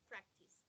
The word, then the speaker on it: practiced: a d practice practice exactly practiced like a t yeah it's like a t why because the last